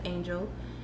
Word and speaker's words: Angyil: You can look me up under the name of Angyil, which is pronounced Angel, and everything should pop up.